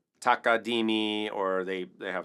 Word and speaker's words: takadimi: But takadimi is, or takadege, I like to say takadege, those are also just rhythmic markers.